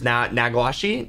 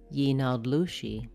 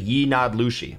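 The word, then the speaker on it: yee naaldlooshii: I cannot pronounce the Skinwalkers, Nagwashi, I think, isn't that right? Yinadlushi. So apparently I wasn't even close. And the Navajo word for it is actually Yinadlushi, which I'd never seen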